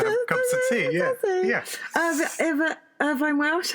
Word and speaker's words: Irvine Welsh: Irvine Welsh, how do you say his name? Irvin Welsh.